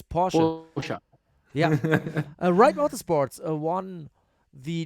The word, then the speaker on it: Porsche: Oh my God, I already again pronounced it English. It's Porsche.